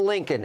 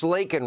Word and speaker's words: Laken: It's not Lincoln. It's Laken Riley.